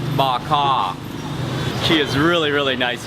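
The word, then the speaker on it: bò kho: okay okay okay so the stew is pronounced bak ha she is really really nice here and a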